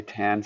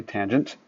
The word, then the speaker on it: tangent: Don't say tan. Say tangent.